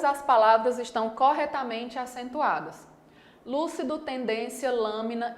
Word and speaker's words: lúcido: No item A, eu tenho a palavra lúcido, que é uma palavra proparoxítona. Lúcido, tem 3 sílabas. E a antepenúltima, última, penúltima, antepenúltima. A antepenúltima sílaba é a mais forte, então lúcido está correto.